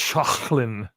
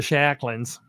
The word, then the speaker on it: Schalchlin: germanic swiss so is it was probably originally pronounced shocklin you know but my family's from arkansas so it all got bitten down to shacklings and corky goes amen amen well this